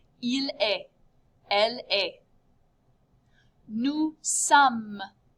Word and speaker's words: sommes: Nous sommes. Notice you just say some.